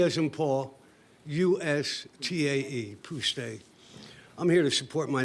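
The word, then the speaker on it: Pustae: My name's Joe Puste. Do you need me to spell it? Yes. PTSA. P as in Paul, U-S-T-A-E, Puste.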